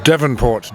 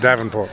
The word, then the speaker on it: Devonport: How your name is pronounced? It's Devonport, D-E-V-O-N. Okay. Yeah. But 90% of people call it Davenport because it's...